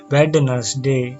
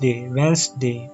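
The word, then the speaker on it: Wednesday: इसे शब्द को पढ़िए अभिशप्त ज्ञान पढेंगे आप वेडनेसडे खदान तरफ बढ़ेंगे क्योंकि आपने हिंदी पढ़ी है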